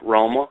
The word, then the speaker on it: Roma: Yeah, Roma.